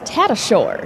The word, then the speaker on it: Tatashore: And Chet, that 46, that's Tatashore is how you pronounce it.